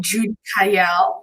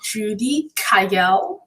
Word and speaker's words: Judicaelle: in the right way my name is jude kyle so you can say judy kyle and then tell us